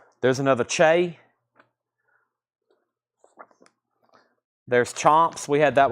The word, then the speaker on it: Che: Che, or Shay? Somebody said Che. C-H-E, it's pronounced Che, evidently.